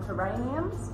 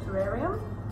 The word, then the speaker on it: terrarium: People call them terraniums, but it actually is a terrarium.